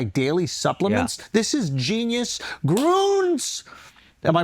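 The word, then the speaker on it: Grüns: Groons. Am I pronouncing it right? Yeah. Groons? Because I saw that little umlaut, so I assumed it was Groons.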